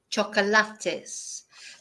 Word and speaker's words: chocolates: learn with this word the difference is the pronunciation of course so in English chocolates in Spanish chocolates because of course in Spanish we pronounce every vowel every syllable in English we don't yeah jul get me